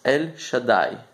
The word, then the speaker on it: El Shaddai: But one of the names of God is actually, I'm going to pronounce it, it's El Shaddai.